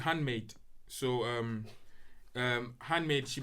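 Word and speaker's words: HVNDMXDE: e dot co dot u k and it's pronounced handmade so h v n d m x d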